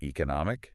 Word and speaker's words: economic: So like education, the stress is on co, right? Right before that embitation. Yeah. And it works the same way with ike. Like economic. Okay. The stress is on no before the ike.